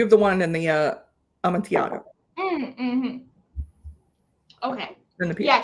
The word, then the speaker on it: Amontillado: You have the one in the Amontillado. Mm-hmm. Okay. In the yeah, two L's make a Y, basically.